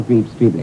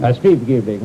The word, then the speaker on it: Streeb-Greebling: I'm standing in the laboratory of probably the world's leading authority on worms, Sir Arthur Greaves-Streebling. Streeb-Greebling, the F is silent, as in newt.